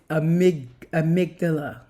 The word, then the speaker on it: amygdala: You guys, it's amygdala. Amygdala. I always say it wrong. It's amygdala.